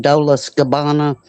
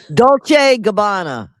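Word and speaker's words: Dolce & Gabbana: I'm probably pronouncing it wrong. Dolas Gabbana. Dolce Gabbana.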